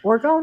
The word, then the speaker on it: orgone: Um, Tell me about how you use orgone. Is that how to say it? Orgone? Orgone?